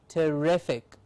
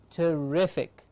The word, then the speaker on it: terrific: apologetic pathetic sympathetic terrific it's not terrific but terrific rific gets the stress means rific is said with a little more effort terrific sympathetic pathetic apologetic biological